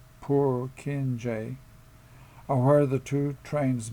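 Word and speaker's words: Purkinje: Prokeni neurons pronounced poor kinj are where the two trains meet.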